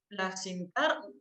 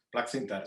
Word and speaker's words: Plaxintar: Hablamos de Gregory Plaxintar. Dime, Gregory, si lo pronuncio bien o cómo se pronuncia. Perfectamente, perfectamente. Plaxintar, sí, está bien.